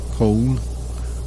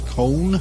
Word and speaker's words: Köln: I think the German pronunciation is Köln, but I wouldn't bet my pronunciation's correct by any means.